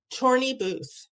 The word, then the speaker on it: Chorney Booth: how do you say your last name? Chorney Booth. Chorney Booth.